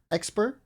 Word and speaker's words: Xpere: I'm here with Xpere. I said it right? From Yeah, SSG Xpere.